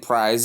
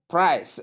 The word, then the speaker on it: price: not what I mean some people do call it prize as I've stated before some do call it prize the c there is not pronounced as z but s price the word there's one